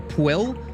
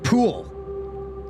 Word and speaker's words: Pill: Dude, guys, remember the word the the town Pill, which is not pronounced that way. It is actually pronounced pool, but really fast.